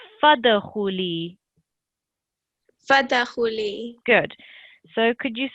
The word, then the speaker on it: فادخلي: So it's fadkhuli.